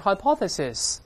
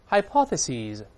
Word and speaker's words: hypothesis: e 后面发 z，本来是 hypothesis， s 变成 z，大声里面 hypothesis， hypothesis，就是把 s i s 换成 s e s 就好了。